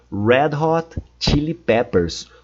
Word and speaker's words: Red Hot Chili Peppers: Red Hot Chili Peppers. Cuidado com a pronúncia do R, é sempre red. Red é sempre o som de R.